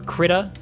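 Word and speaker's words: Krita: I've I've been seeing other people talk about it now and I think I think people pronounce it critt. I assumed creda because like the a like phologically would make the i strong.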